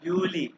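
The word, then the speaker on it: Juli: जनवा, फेब्रुआरी, मार्च, हाँ हाँ, ये ए है, मैथ्स, मैथ्स, मार्च, हाँ, अप्रैल, मई, जूनी, जुलाई, हाँ हाँ हाँ, यूली, जूली, अगस्त, हाँ हाँ हाँ, यू को ऊ कहते हैं, ऊ, अगस्त, अगस्त, अगस्त, आगे जेड की बात कर रहा है।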